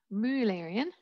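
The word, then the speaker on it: Müllerian: Mullerian mimicry, if you're German, you'd pronounce it Mullerian mimicry.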